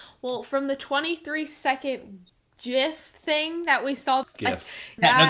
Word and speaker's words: GIF: i don't know well from the 23 second gif thing that we solved yeah this is the most offensive part of the video leave your opinions in the comments below but it is not jif it is gif jif is a peanut butter so well hey